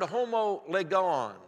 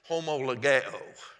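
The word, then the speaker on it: homologeo: that's a wonderful word it's the word homolegon h-o-m-o-l-o-g-e-o-n it's a powerful word i mispronounced it it's homologao is the greek word homo means the same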